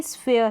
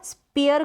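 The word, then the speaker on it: sphere: Same ऐसे ही स्फेयर है, स्फेयर, ये जो पी एच है ना, स्पेयर करके प्रोनाउंस ना करें, पी एच को फॉर प्रोनाउंस किया जाएगा, पी एच को फॉर, स्फेयर, स्फेयर मतलब कि गोला, स्फेयर।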